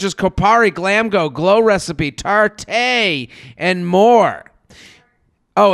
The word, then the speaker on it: Tarte: They carry brands such as Kopari, Glamgo, Glow Recipe, Tarte, and more. Oh, it's Tarte? Why don't they just spell it Tarte?